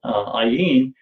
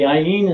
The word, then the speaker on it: ayin: ayin, and they said, the ayin is a silent letter, and the aleph is the silent letter. There's only two silent letters that are in the Hebrew alphabet, is the aleph and the ayin. They only make a sound when there is a vowel connected to them.